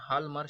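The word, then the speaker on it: Hjalmar: अब देखिए ये जो क्या नाम है इनका नाम है हाल्मर शाख्स, राइट। हाल्मर जो शाख्स है, जे को भूल जाइए, आपको हाल्मरशाफ्ट लिखना तो HJALMR ही होगा, बट प्रोनाउंस इस तरीके से करना होगा, हाल्मरशाफ्ट।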